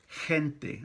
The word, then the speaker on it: gente: So we have gente, look, gente. And we have jefe, he, in both cases. So G-E by itself is pronounced je, gente, jefe, boss, right?